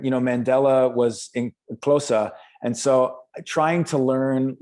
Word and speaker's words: Xhosa: Yeah, it's pronounced Xhosa.